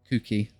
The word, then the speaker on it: Kooky: Another word for crazed, because I'm going to name you Kooky. Obviously that spells cookie, but it's how do I pronounce it so it's Kooky, as in weird.